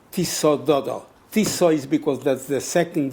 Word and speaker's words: Tisza: Tisza is because that's the second river in Hungary after the Donau is Tisza.